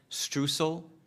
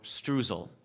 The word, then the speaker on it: streusel: again good evening uh this word also has variant pronunciations I'll give you both of them strel or strel or strel s t r e